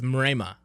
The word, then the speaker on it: Mrema: How do you pronounce it? So my last name is Mrema.